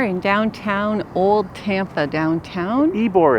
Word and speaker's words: Ybor: It What is is- called Ybor. Ybor is how to say it. We had it in one of our 3 guesses. Yeah. Oh yeah. So here we are in downtown, Old Tampa downtown. Ybor it's called, we found out.